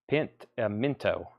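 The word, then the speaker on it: Pentimento: Extra syllables in there. Not pimento cheese. Totally different thing.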